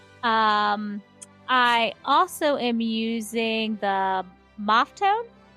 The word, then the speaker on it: Maffetone: Maffetone.